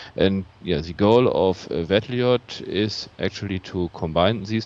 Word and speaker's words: VEDLIoT: that we are working on we call it vettelite so that's how we pronounce it uh it's about combining iot with